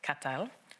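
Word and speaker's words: কাঁঠাল: as is known in Bangalore pronounced catal with a hard emphasis on the T sound.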